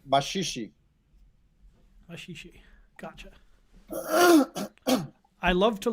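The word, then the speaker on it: Maxixe: That song doesn't sound like the samba of today, though, because it sounds a lot like the machixe, Maxie, which was an earlier urban style of music and dance that mixed European and African elements from Brazil.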